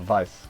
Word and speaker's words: Weiss: They lie to the captain, Captain Weiss, I believe his name is, but it's spelled like Weiss, but Weiss, because it's like German.